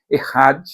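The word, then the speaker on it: אחד: no hebraico não é escreve-se EAD mas a pronúncia é errad indica unidade composta a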